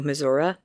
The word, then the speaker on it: Missouri: louis she loves missouri she pronounces it differently than i do mizora anyhow apologies we love